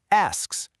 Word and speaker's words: asks: First, just say the word ass. Go ahead. Ass. Easy, right? Now just add the KS sound at the end. KS. KS. Now smush them together. Asks. Asks.